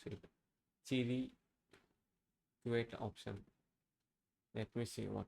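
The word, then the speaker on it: cliquet: The word clique is pronounced with a strong C sound followed by the sounds li and ket as in click it. The li is a short I sound like in sit. Okay.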